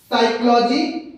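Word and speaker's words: psychology: दोस्तों यहाँ पे ध्यान दीजिए, हमारा एस वाई पढ़ा जा रहा है, जबकि दोनों में हमारा पी साइलेंट हो जा रहा है। पी को हम पढ़ ही नहीं गए हैं।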